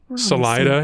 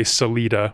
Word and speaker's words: Salida: too Salida is next I've never heard anyone say Salita which is their other option I this one threw me a little bit as well because I have never heard anything but Salida yeah Salida is the one yeah that's a 93